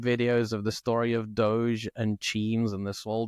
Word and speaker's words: DOGE: Is it Doge? Is that how it's pronounced? Yeah, because DOGE for those. Yeah, because it's the reference to the Doge meme, Yeah.